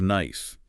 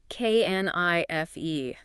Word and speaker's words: knife: Think of knife. K N I F E. Silent K. Silent E.